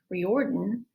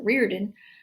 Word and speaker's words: Riordan: This book is highly recommended by another famous author, Rick Riordan, or some people pronounce it Reardon, who wrote the Percy Jackson series.